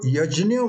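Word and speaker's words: यज्ञ: has become yajima so yajna was the correct original pronunciation but it slightly changed some part of western india and south india it has become yeah so they have just removed the ger part of it instead of via junior they have made it yet new but you go to the northern part and it has become your gear right so this is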